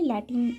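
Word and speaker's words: Latin: দুটাই কই ঠিক আছে কেউ কেউ ল্যাটিন লেখে লজফকার টস দন্তন্য আর কোথাও কোথাও লাতিন লেখা থাকে যেহেতু বইতে লাতিন লিখেছে সেজন্য আমি লাতিন লিখে দিয়েছি কিন্তু একচুয়ালি ল্যাটিন বলে ইংরেজি উচ্চারণ তো উপনিবেশবাদের সূত্রপাত হয়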